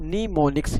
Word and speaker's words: mnemonics: It is pronounced as mnemonics.